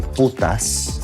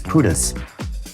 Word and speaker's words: putas: To say it correctly, it would be putas. For us, it's pudas. Puda, yeah.